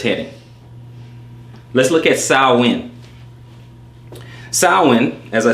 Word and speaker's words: Samhain: Let's look at Samhain. Samhain, as I said before, okay, pronounced Samhain, is a Gaelic festival marking the end of